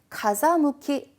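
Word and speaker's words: 風向き: 자, C번에 가자무키 바람 아 발음이 저 가세 아니고 자로 바뀌어요.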